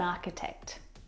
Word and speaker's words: architect: like stomach and ache the CH in all of these words is pronounced like a C Sound my brother is an architect he went home early